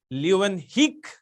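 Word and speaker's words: Leeuwenhoek: by the way scientist so you need to divide this like this so even this o e here is pronounced as e all right so the name is anton van leeuwenheek you hang on so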